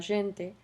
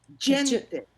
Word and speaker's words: gente: It sounded as if you pronounce it as a kind of in between j and j. J is a DJ, is a j, just like just in English.